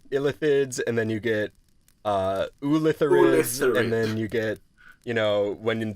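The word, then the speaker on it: Ulitharid: We'll talk about their upgraded form, the Ularithids. No, I'm going to say it wrong every time until we actually get to it. Ulitherids.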